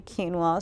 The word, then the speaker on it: quinoa: straight in, but you could also toast the quinoa if you wanted to.